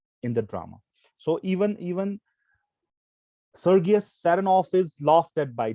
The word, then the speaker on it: Sergius: Some people pronounce it as Sergius. So even that is correct because it's a noun. I pronounce it Sergius.